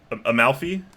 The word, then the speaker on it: Amalfi: know I don't actually know how this is pronounced I'm not I got a mile I guess I'm part Italian technically but amalfi okay yeah Amalfi Coast okay so this is